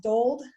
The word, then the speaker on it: Dold: we have susan is is your last name pronounced doled yep i forgot to ask